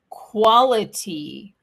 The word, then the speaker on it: quality: Okay, and then we have quality. Quality. Quality, if you say it fast, it's quality with a quality. Donc là, le T, il se prononce presque comme un de.